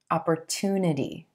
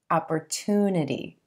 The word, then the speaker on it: opportunity: It's a t, true T sound. Opportunity. A lot of you have asked me if this is a CH sound, opportunity, but in American English, we use a true T here, opportunity, and emphasizing that oo